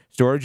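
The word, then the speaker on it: Storj: just point this out storage is St o RJ got it so I want to just the way you spell it is very strange Storage storage yeah so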